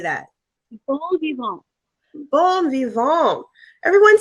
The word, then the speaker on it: bon vivant: good, yay, is did I pronounce that right? Bon vivant, bon vivant. How do you say that? Bon vivant.